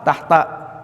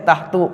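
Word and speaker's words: تحت: Dan dia dibacanya fathah. Enggak boleh tahtu, enggak boleh.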